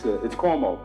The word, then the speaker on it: Cuomo: It is somewhat intimidating as you launch an important new career to get your name butchered. It's CUOMO, for whatever that means to you.